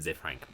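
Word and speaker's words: Ze Frank: So the channel is called Zay Frank 1, and it's spelled Z-E, and then just Frank 1. Oh, okay. Yeah, Zay Frank.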